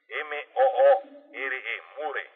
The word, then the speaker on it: Moore: Existe incluso una película, un documental de Michael Moore, Michael M-O-O-R-E, More, pronuncian Moore, Michael Moore.